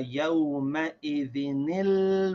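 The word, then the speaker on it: يومئذ: So if we read it correctly, we say from the beginning of the ayah, ila rabbika yawma idhinil mustaqar. Did you see that? Yawma idhinil. You say nil mustaqar.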